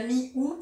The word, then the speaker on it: mi-août: Il ne prononce pas le T, alors moi non plus, je dis la mi-août pour la mi-août.